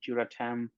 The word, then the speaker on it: Duratem: Yeah, so those are our materials are called Duratem. It's like a flexible Ultem. You can Sure. think of it that way. So that's why we kind of named it Duratem, kind of rhyme with Ultem.